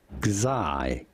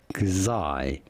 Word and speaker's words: Xi: K, and then Zai. It's almost like Sai, but the hard X sound. So Kazai. I need to remember this. I need to repeat it over and over. Kazai, Kazai, Kazai Gundam.